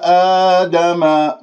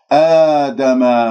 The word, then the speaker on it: آدم: آدم لديك ألف ساكنة قبل همزة مفتوح، إذن مد بدل بمقدار حركتين، ولا نقول آدم الأسماء كلها هكذا إمالات بالألف، هذا غير صحيح، اجعل اللسان مرتاح بعد بين الفكين، لا تبتسم بالشفاه.